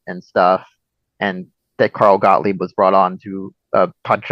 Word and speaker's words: Gottlieb: the writers, like Carl Gottlieb. I don't know if I'm butchering his name wrong. Specifically, they brought him on specifically to make it funnier. Because Gottlieb is the correct pronunciation, so you're good.